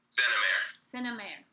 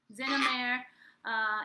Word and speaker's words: Xenameir: How do you pronounce it? Xenameir. Xenameir.